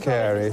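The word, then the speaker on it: Carew: haven oil refineries now according to this pronounced carey so it says sorry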